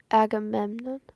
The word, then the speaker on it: Agamemnon: I'm trying to figure out if I'm saying right. I say Aimemon. Agamemon. Agamemnon. I am saying it right.